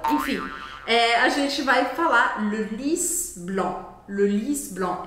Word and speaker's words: Le Lis Blanc: Então, concluindo, le lis blanc. Esse C no final também não é pronunciado e A com N tem exatamente o mesmo som de EN, EN.